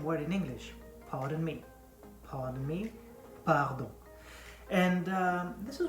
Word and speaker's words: pardon: So, pardon, not pardon or pardon like every English people try to pull off. Not pardon. You pronounce the R. You don't roll the R like you don't say pardon.